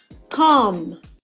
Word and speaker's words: calm: When we pronounce it. Calm.